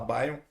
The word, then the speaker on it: BeOn: Só fazendo uma correção, a gente se escreve Beon, mas a gente fala B.